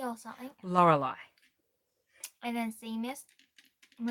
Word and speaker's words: Lorelei: And Laurie or something. Lorelei.